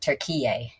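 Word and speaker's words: Türkiye: e which i've been told is pronounced turkey a it's a cute word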